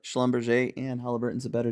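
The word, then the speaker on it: Schlumberger: I I think that we proved that it's not schalom Berger but schomber and halberton is a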